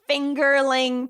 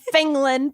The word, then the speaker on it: fingerling: he he was like he started making fun of me for the pronunciation and I was like honey no it's fingerling potatoes and I need to call say it again did a voice she did crying laughing that Zach calls them fingland potatoes and now that